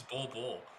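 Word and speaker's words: Bol: No, his name's Bull.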